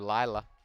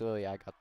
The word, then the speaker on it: Lilia: But some spectacular defense from Lilia. Or Lila. No, it's Lilia. I pronounced it right.